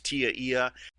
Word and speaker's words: TIA/EIA: standard by the way tia/eia which people commonly pronounce as tiia that stands for telecommunications industry Association SL electronic